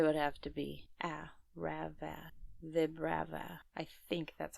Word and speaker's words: Vibrava: have to be Rava, Vibrava. I think that's how phonetically it would be. But you're saying it Vibrava? Vibrava, Vibrava, because vibrations and like larva. Yeah, it's basically vibrations and larva.